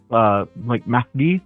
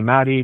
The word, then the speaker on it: Mahdi: It's an Arabic name, like Mahdi, but you know, I usually tell people to call me Maddie because, again, I moved